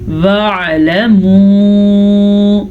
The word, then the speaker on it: وَاعْلَمُوا: وَاعْلَمُوا عین کو واضح کریں.